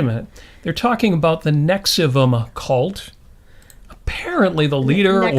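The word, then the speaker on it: NXIVM: Yeah, it's spelled Nexium, but it's pronounced Nexium. Yeah. Yeah. So, I think the V is intended to be like upside down, like a U. So I mean, so that would make it Nexium.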